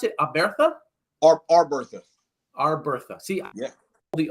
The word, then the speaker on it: Arbertha: And Tez, do I pronounce it Arbertha? Arbertha.